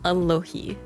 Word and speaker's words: Alohi: And you pronounce it as Alohi. Kind of like Aloha but with an I at the end.